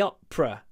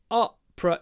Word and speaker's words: opera: the OPA last week the Opera two syllables op oppra you don't need to pronounce the middle one Opera no Opa Opa I